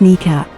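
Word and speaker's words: NEACP: when it was termed national emergency airborne command post pronounced kneecap the aircraft was to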